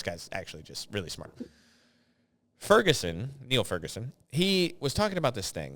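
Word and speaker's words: Niall: It looks like when you're reading his name is spelled like, it looks like Nile, but it's pronounced Neil.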